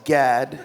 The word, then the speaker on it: Gad: it's uh just pronounced Gad the uh the other letters that don't exist like you're gagging like Gad no Gad Gad with